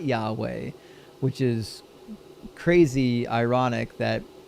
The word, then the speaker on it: Yahweh: Crazily enough, on the Jehovah's W Jehovah's Witness website, they actually admit in one of their articles that the correct pronunciation is Yahweh.